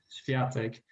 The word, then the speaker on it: Świątek: But the coach of Iga Świątek, you pronounce her name Świątek, he is only 29.